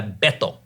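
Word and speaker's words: Beto: He would go by Beetto. Yeah. Which is the Hispanic pronunciation. I call him Bato because I'm sorry.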